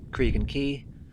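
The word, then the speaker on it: Craig Goch: So we're up here now, Cregan Key, that's how you say it.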